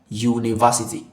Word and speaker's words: university: It does not begin with a vowel sound. Okay, this is a consonant sound because it's Y. U university.